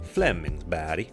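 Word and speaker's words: Flemingsberg: in the Stockholm area called Flemingsburg or as the swedes pronounce it Flemings B and that would be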